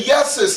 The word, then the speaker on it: Jesus: So even if I say Yesus, that's correct. The J ain't taken away from it. That's right. Because it carries the same sound.